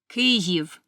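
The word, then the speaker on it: Kyiv: the capital of Ukraine please pay attention to the spelling and pronunciation cive cave is a modern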